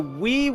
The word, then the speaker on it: Wii: He said Wii, and he had to say it sounds like the word Wii, W-E.